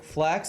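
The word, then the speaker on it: flaks: me on youtube yesterday and thought of something flax and norwegian literally means luck so that is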